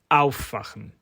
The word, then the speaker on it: aufwachen: The main way to identify separable verbs is to look at where the stress falls on the verb. If the stress falls on the first syllable, and crucially, if that prefix is a word in its own right, then the verb is likely to be separable.